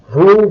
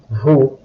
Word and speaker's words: vous: So you will notice here that the last letter of the word vous, S, it's pronounced as Z when followed by a word starting with a vowel.